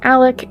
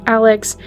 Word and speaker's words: Alec: In my last covering, it appears that he pronounces his name as Alec instead of Alex, but I wasn't really sure until now, so we're just going to make that little correction.